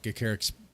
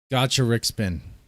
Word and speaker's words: Gacharic: Is there another video you'd like me to react to of Gacaric's? I've said it wrong again, I guess. Gacharic.